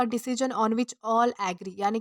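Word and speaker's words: ennui: तो दोस्तों, इसे ऑनवी प्रोनाउंस किया जाता है, जिसका मतलब होता है boredom and frustration in life, यानी कि उदासी।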